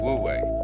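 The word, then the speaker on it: 無為: life and then with this character this is pronounced this one is woo this one is we woo way way means to act to strain to strive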